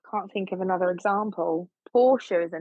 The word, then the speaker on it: Portia: I think that is Porsche, not Porsche, like the car.